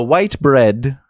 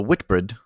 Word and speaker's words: Whitbread: that's pretty happens the ambitious work won numerous Awards including the white bread uh I'm sorry I'm saying that incorrectly the Whitbread I could be saying